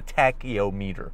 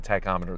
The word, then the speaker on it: tachometer: to keep it yes on the tachyo meter no it's a tachometer that's how you pronounce it but there we